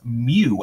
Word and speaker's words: mu: this funky looking m or u it's actually pronounced mu m u is really what it is this